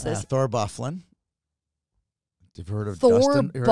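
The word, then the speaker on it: Byfuglien: Thor Bufflin. You've heard of Thor Dustin? Thor Bufflin? You heard of Dustin Bufflin? That's Bufflin? That's how you pronounce that name?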